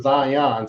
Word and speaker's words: Zion: It was Zion. So that's 2 syllables.